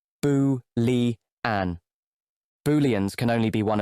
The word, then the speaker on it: Boolean: These are pronounced boo-li-an.